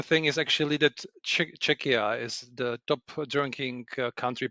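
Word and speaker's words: Czechia: So, Ludic, you're you're from Chetchia, I believe. Is that how you pronounce it? No. Czecha Czecha Czecha because your your pronunciation is similar to Cheschna which is much more uh to the east actually.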